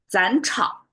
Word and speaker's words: 斩: then the result is 斩, beheaded. That's their consequence. 斩草, 斩草, 斩草除根. Okay. The reason why it's kind of a tongue twister for me because 斩 is ZH. We have to curl of tongue.